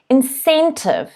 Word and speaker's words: incentive: next word is incentive so that c is a s sound incentive the stress is on the second syllable incentive say it at